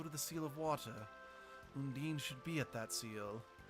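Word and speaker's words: Undine: else I find funny they pronounce the name undini in this game but in every other Tales game it's pronounced undeen so like I said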